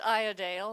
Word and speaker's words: Iredale: you say it properly well I'd say with an English accent so it's I adale like I'll antonio de